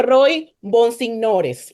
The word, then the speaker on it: Roy Bonsignores: Mira, lo más difícil del podcast es pronunciar el nombre de este joven, entonces voy a intentarlo. Se llama Roy Bonsignores.